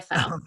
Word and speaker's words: Fowl: It's okay, it's Fowl, it's like cow with an F, Fowl.